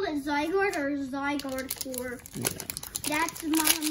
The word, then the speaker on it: Zygarde: behind it is ziggurat whoa that's a red zig guard sorry again my apologies with the pronunciation of some of these pokemon zygarde zygarde i think it is yes zygarde so that is a holo rare zygarde we'll